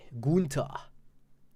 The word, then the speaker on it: Gunther: It sounds very German if I say it like that. Not sure if you're German, but I pronounce it in a German way. Gunther.